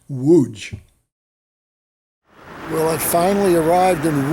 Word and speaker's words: Łódź: it's pronounced wooch well i finally arrived